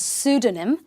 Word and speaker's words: pseudonym: Okay, watch the spelling here. But the pronunciation is pseudonym.